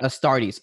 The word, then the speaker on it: Astartes: seen the youtube channel um and i might butcher the name yeah um astartes a startus oh the adept is astartes yeah astartes okay sorry so have you seen that youtube